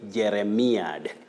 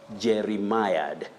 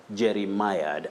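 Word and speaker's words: jeremiad: from what we see many people would say jeremiah that jeremiah is inaccurate when it comes to the pronunciation of that word you say jerry mired jerry mired and that is a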